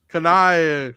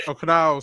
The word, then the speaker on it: Kanao: Oh Kanai. That's Kanao, sorry.